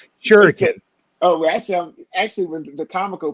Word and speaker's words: Shuriken: Shuriken. Oh, actually was the comical part. It's Kamiko. I always do that. But, man. Yeah, everybody pronounces it comico. But Shuriken, you pronounced that correctly.